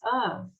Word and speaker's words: of: And the pronunciation of this of is like V, of.